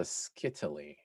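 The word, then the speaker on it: scytale: the device called uh eschitali right this is called a skittly uh which rhymes with italy uh and to encrypt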